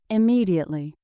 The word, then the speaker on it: immediately: Immediately. Immediately. Please call your mother immediately after you arrive. Immediately has 5 syllables. Practice. I am me die 8 li. The stress is on the second syllable.